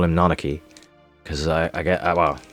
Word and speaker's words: Nanaki: Or I guess some people say Nanaki, I guess, but yeah. Hey. Yeah, some people call him Nanaki, I guess, but I call him Nanaki. Because I get, well, I'm pretty sure that's the JP pronunciation.